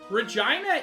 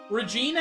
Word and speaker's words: Regina: Also, yeah, Regina is a much older pronunciation. Regina is the much newer pronunciation.